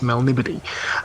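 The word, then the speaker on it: Melniboné: many years ago, I I've pronounced it in my head as a Melnibone. Uh which it may be, but I've I've been told um Oh, sure. Since then it was it's Melnibody.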